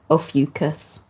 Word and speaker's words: Ophiuchus: it and that's all about a fucus or officious I like to say atheists but it's actually pronounced officus but anyway officious time officious time so yeah